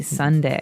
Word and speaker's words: sundae: So, as you can see, the word is uh pronounced exactly like the day Sunday. Uh but it has a different spelling in the end. S u n d a e. Sunday, right?